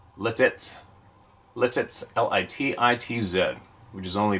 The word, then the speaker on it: Lititz: Lebanon County I live in a town called letez pronounced letez Lititz l-i-t-i-t-z which is only about a 20